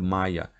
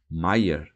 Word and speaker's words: Maier: É o que eu digo, senhor Maia. Maier, corrigiu o alemão, apoiando com força na última sílaba.